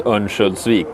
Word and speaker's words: Örnsköldsvik: So let's talk a bit about your hometown, Övik, or how do you pronounce it? Yeah, or the full name is Örnsköldsvik, but yeah, its shorter version is Övik, yeah.